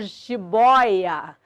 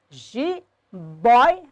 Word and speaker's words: jiboia: E a palavra jiboia, jiboia, é um trissílabo. Paroxítono continua tendo o ditongo aberto, mas não tem mais acento.